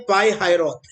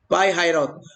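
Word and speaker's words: Pi-hahiroth: पाई हायरौत। ये क्या है? पाई हायरौत। और यहां से ये पाई हायरौत की स्पेलिंग में बता दूं, PIHAHIROTH, पाई हायरौत।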